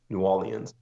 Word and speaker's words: New Orleans: Orleans huh yeah so you sort of skip over the are New Orleans when people say nollans Oh in Orleans there's a little bit there's a little few more syllables New Orleans so okay um but